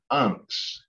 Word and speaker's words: vnks: And this verb tense is pronounced unks. It's pronounced unks.